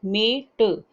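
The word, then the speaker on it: mate: तो पहले एम पढ़ना है, फिर ए पढ़ना है और फिर टी पढ़ना है, मेट।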